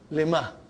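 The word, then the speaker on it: لِمَ: Lima. So ha will come as a silent, lima. You are not pronouncing it because there is a sukoon on it.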